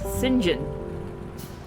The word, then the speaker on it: St. John: St. John is your middle name and is pronounced Singen.